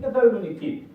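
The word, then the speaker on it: Thessaloniki: 지금은 테살로니키. 지금은 이제 영어로 발음을 하면 테살로니키예요.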